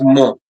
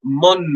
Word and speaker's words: mon: We use mo. The N is actually a nasal sound. Huh? It's mo, mo, mo. It can also be pronounced as mon, n.